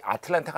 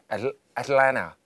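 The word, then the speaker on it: Atlanta: 올해 8월에는 이게 발음이 아틀란타가 아닙니다. 애틀랜타. 저 옆쪽 붙여갈까요? 지금 우성 씨 앞에서 한번 해주세요. 애틀랜타. 그렇지. 애틀랜타. 그러니까 까탈레나? T자가 거의 없어요.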